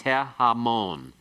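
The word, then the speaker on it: הֶהָמוֹן: If you want to say the multitude, it becomes he-hamon. He-hamon. Okay, remember this is when the article, the he, is attached to a noun that has as its first syllable an unaccented he, ayin, or chayth with a qamets beneath it.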